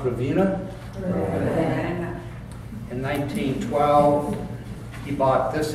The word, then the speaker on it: Ravenna: Then he bought another bank in, is it pronounced Ravenna? Ravenna.